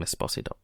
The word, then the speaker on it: Esposito: they cut all that and just had um Esposito and that's how you say his name Esposito uh and and that's why if he feels